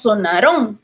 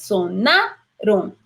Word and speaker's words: sonaron: Entonces, sonar lleva más acento en la penúltima, no decimos sonaron, ¿verdad? Entonces, sonaron. Entonces, es una palabra grave.